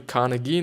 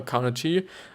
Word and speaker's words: Carnegie: friends and influence people by Dale Carnegie actually Carnegie nor Carnegie I've been you know pronouncing is named for the last 50 or